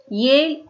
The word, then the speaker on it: Yale: The university is named Yale University. They just give the clue. The name rhymes with pale. Okay. So pale, Yale.